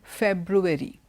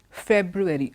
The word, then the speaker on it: February: so it is a February February both the ours are pronounced there you can't drop an R in some words you